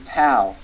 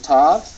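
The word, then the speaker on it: ת: Now some people will pronounce this as Tav. It doesn't really matter how you pronounce the name of the letter, Tau or Tav. It's the T sound as in toy.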